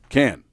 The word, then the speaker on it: Cannes: How do you pronounce that? Cannes.